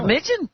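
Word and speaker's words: Romijn: Remigen? Yeah, that's the proper pronunciation.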